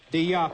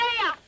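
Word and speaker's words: Deià: Deya.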